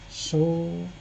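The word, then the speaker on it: σωτηρία: Ini adalah sigma S. Ini adalah omega O. Ini adalah T, ini adalah eta, ini adalah rho R, ini adalah I, dan ini adalah A, sehingga bacanya adalah soteria.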